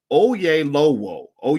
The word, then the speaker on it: Oyelowo: actor is oh ye it's spelled o y e l o w o that sounds like oh yay low o yeah low o o